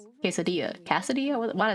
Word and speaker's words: quesadilla: But look at the tiny ass casadilla. Quesadilla.